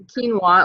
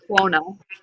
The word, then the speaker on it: quinoa: And then I'm going to have some quinoa, or if you want to pronounce it like I used to, quinoa.